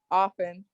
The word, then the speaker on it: often: b is it often often the t is silent yes well yeah and